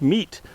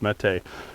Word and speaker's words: Mete: to remember me saying maybe it's meat, like meeting out justice, long before suddenly the internet all spoke Turkish and said the Mete was hero or something like that, and it's pronounced Mete.